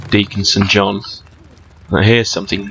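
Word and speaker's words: Deacon St. John: Right, okay, basically, this guy called Deaconson John. Now, here's something. Deaconson John rhymes with Days Gone.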